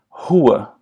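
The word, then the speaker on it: rua: some basic pronunciation tips the r at the beginning of a word as well as the Double R they sound like the H in English so for example the the word Hua or he and in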